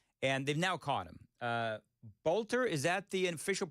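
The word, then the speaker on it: Boelter: Bolter, is that the official pronunciation?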